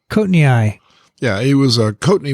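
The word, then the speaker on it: coatneyi: heard of coating how do you say it cotton eye cotton eye yeah he was a courtney was a malaria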